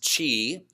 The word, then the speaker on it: Qi: do you say it it spelled Qi which means Chi and simply translated she